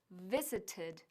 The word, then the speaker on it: visited: Como la mayoría de los verbos regulares que en el infinitivo acaba en un sonido de T, como to exist o to educate, to visit toma una sílaba adicional en pasado. Por eso, visited, existed y educated se pronuncian visited, existed y educated, respectivamente.